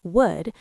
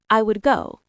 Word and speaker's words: would: Now, when we say the full word would, we usually don't pronounce the L very strongly. It sounds like wood, like the material from trees.